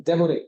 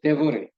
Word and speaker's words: Devoret: Devoret. Devoret.